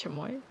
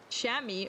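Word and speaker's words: chamois: I think that's how you pronounce Chammoy. Is it Shami? Shami. Oh, my bad.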